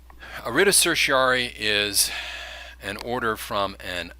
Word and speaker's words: certiorari: writs of certiorari and I know it doesn't look like that's how it's pronounced but again we're dealing with that kind of bad Latin that's shot through the law arida certiary is an order from